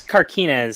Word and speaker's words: Carquinez: It's Carquinez, so close. Close on your pronunciation there.